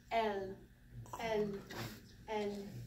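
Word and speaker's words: אל: And then up here, Aleph, no sound. We have the 5 dots because it's a guttural, and the lamed, so El, El, El.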